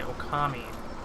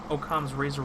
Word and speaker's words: Occam's razor: the name is okay I would have said it wrong I was gonna say hello commie but it's Occam's razor well Oklahoma's razor one